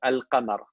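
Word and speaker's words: القمر: But if there is no shadda, okay, if there is no shadda, that means you pronounce the lam, like al-qamar, okay, or al-Madina.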